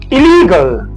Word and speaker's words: illegal: The stress syllable is the one in the middle. Okay. Illal. Illegal. Illegal. Illegal. So the primary stress always falls under um the root words.